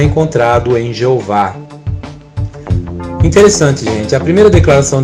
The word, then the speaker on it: Jeová: E se ler do jeito que está ali, cada consoante com som de vogal vai dar a pronúncia Jeová, e não Javé, nunca Javé.